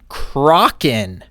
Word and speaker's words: Kraken: everyone now hold on Merriam-Webster Dictionary States the pronunciation for Kraken would be Kraken as one of the variation okay mxa but it does say Kraken as well doesn't it smoke them if